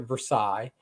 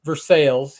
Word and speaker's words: Versailles: nearest little town to me would be uh Versailles although it if you've seen it you would pronounce it Versailles but it for sales here in Missouri and uh but yeah I